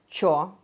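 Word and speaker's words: что: the word store uh it is often pronounced as Cho by Russians uh it's true though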